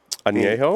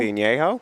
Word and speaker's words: Añejo: How do you pronounce that? Añejo? Añejo?